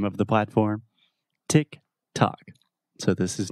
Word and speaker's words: TikTok: talking about the platform itself just a quick pronunciation about the name of the platform Tick Tock so this is not chalkie not anything like that tick tock tick tock